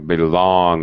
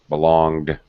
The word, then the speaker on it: belong: Belong. You do not hear the G. Belong. Belonged.